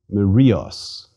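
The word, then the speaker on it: μυρίος: a row an R let's read it aloud maros and again Rios by the way the mark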